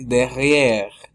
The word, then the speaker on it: derrière: Luego viene derrière. Derrière. ¿Y qué es lo que pasa? Lo mismo de siempre. La E es muda al final.